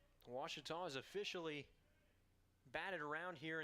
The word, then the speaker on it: Ouachita: for Washita Baptist University back in Texas everybody pronounces it Wichita but really it's Ouachita Washington how would you pronounce it Ouachita it's one it's Wichita Baptist University get it right it's Ouachita people it's Ouachita she talked about the buzzer is it going